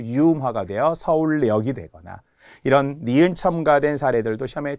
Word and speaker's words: 서울역: 염증 아프죠 병원에 가야 되는이 염증과 관련될 때 발음도 니은 첨 가요 뭐 서울역이 그지 서울역 니은 첨가 후 유화가 되어 서울역이 되거 이런 니은 첨가된 사례들도 시험에 정말 잘 나옵니다